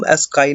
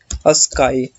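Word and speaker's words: ASCII: Text रख लेता हूँ, हम इनको क्या बोलते हैं, अस्काई। ठीक है। इसको कई लोग आस्की भी प्रोनाउंस करते हैं, स्काई भी प्रोनाउंस करते हैं।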